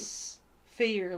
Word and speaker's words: sphere: Sphere, like fear.